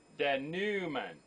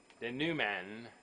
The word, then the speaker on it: denouement: And here, just because I didn't know, denouement. Don't even pronounce the T.